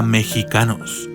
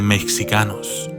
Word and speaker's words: Mexicanos: Sin embargo, todos habrán notado que se pronuncia mexicanos en vez de mexicanos. La discordancia entre la forma de escribirlo y pronunciarlo es porque el texto conserva el valor que tenía en épocas antiguas del idioma español al que lo tradujeron. Se representaba el sonido que hoy corresponde con la letra J con la X.